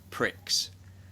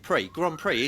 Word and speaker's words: Grand Prix: I hate saying this word, pricks. Why? How do you say it? Grand Prix, isn't it?